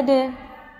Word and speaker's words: to: To is pronounced as de. Aturannya, jatuh setelah bunyi voiced atau vowel.